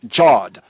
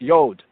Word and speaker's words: yod: ones might say that from a anglo-american like british american kind of way of speaking as jawed jawed but really it's yod yod yod how do we know